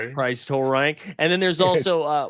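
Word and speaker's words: Turang: And so there's one other one that I like that's like Bryce Tang, but you say it like Lurch says you rang. So, it's Bryce Tor. Bryce Torank.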